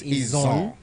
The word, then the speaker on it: Izon: No, let me come back to my proper dialect. Izo. because Ijo is anglicized. Right. Yeah, so it is Izon. So the proper pronunciation is Izon, and it's only Izon and not Ijo. No, not Ijo. That Ijo is anglicized.